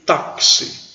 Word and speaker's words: táxi: cabo eu coloquei aqui táxi qual o interesse tá com net é pronúncia desses x ele não é pronunciado aí com chá che chi cho chu não ele tem som de ks então esse estudo é